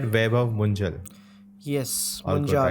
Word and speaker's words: Vaibhav Munjal: Am I pronouncing it right? Vaibhav Munjal.